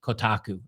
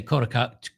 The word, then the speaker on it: Kotaku: it wasn't called Kotaku I guess they pronounce it Kotaku if I actually if I remember correctly they do pronounce it Kotaku so Kotaku every time I say kotaka Kotaku you guys are slapping your foreheads thinking I'm an idiot um but that's how